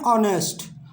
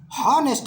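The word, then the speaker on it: honest: एन ऑनेस्ट, हॉनेस्ट नहीं, ऑनेस्ट, yes silent है यहाँ पे, एन ऑनेस्ट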